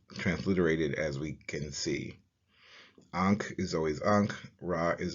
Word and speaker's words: ankh: symbols foreign the key is always transliterated using a-n-k-h and translated as ankh pronounce Ankh the pastel is translated as TI